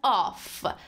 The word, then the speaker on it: off: pronounced as of but o double f is pronounced as off so this is of which means okay